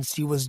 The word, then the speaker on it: Shiva: in December sewa month he pronounced the God shiva's name as all Balan did further you were born on siwa's day the last day